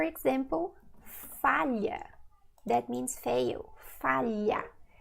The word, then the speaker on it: falha: falha, that means fail, falha. See, if it's difficult for you to pronounce it first, because you don't have this sound in English, you can say li, li, falha, olho, until it becomes natural, okay?